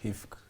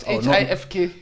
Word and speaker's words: HIFK: By the way, Arnold, first of all, how do you pronounce the team you play for? HIFK. HIFK? Yeah, in Finnish, HIFK. Not HIFK?